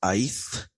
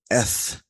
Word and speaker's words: αιθ: Now that is not pronounced eith, but eth.